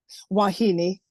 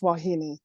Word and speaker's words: wahine: Hawaiian Hawaiian they language they pronounce every vowel so it's yeah so so how so how do you pronounce it wahini wahini where and it